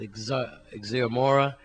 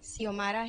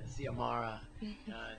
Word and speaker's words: Xiomara: How do you say your name? Xiomara. Yeah, Xiomara.